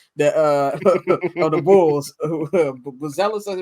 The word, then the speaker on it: Buzelis: Buzelis, as he pronounces it.